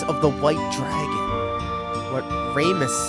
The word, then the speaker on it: Ramus: Ramus is how you pronounce it, huh? Okay. I'm felted. Hey, you're good. He was at Dine's monument, planning an adventure with Ramus. It's Ramus, bros.